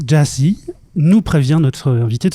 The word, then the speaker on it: Gyasi: Avec nous, Stéphane Deschamps, journaliste, auteur et coprogrammateur de l'équipe de Nuit l'alligator pour m'aider à échanger avec notre invité, dont le nom se prononce GYASI.